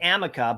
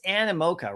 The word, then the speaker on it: Animoca: I'm calling it Amica, but it's Animoca, right?